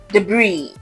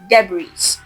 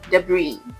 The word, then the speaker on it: debris: Now this is a French word. So the correct pronunciation is debris. The S is silent. So you don't say debris, you say debris.